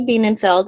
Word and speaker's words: Bienenfeld: for me oh sure bean and like beanie baby okay i just was saying it wrong before and i didn't untrain myself so biennenfeld rainey bienenfeld is an attorney um